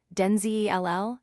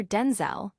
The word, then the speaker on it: Denzel: Washington explained that his name is not pronounced Denzel Ll as commonly believed, but rather Denzel with a clipped E sound in the second syllable.